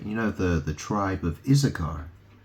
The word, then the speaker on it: Issachar: So Issachar, or Issachar, because you don't, no one pronounces the H in it really. They just say Issachar.